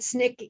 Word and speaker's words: SNCC: you remind people what snick is thank you the student non-violent coordinating committee sncc was the abbreviation which we pronounced snick and that was one